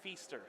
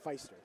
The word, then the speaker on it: Feaster: It's Brayton Feaster. Feaster. I kept saying Feister. I think a lot of people say Feister, and it may be Feister.